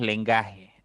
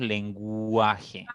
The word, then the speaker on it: lenguaje: la u suena Sí aquí la u suena no decimos lenguaje decimos lenguaje entonces la u suena